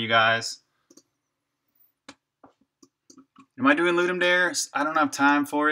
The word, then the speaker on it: Ludum Dare: The name is Latin for to give a game. Ludum dare. Ah, Ludum dare.